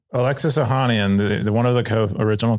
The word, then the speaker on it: Ohanian: His name is Alexis how do you pronounce it? Ohanian? Alexis Ohanian, the one of the original co-founders.